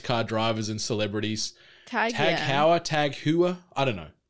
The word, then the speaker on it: TAG Heuer: Tag Heuer, I think that's how I've always called it, like Tag, like the high-end watches you see typically attached to Formula One race car drivers and celebrities. Tag Heuer, Tag Heuer, I don't know.